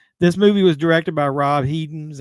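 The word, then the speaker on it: Rob Hedden: ready to go this movie was directed by Rob heeden is how you pronounced his name um it came out in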